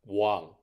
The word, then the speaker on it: 網: character W dead underneath think of it like saying W to sound out wow this type of character